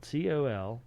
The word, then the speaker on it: Colonel: No, I'm saying it's spelled COLONEL. Yeah. Yeah. There isn't an R in there.